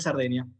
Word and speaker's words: Sardegna: Mi nombre, sí, Sardeña. Exactamente. Que se escribe Sardegna, por las dudas, ¿no?